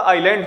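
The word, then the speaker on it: island: ध्यान दीजिए मित्रों, ये लिखा हुआ है ISLND, लेकिन इसका जो प्रोनाउंसिएशन होगा वो आपका आइलैंड होगा।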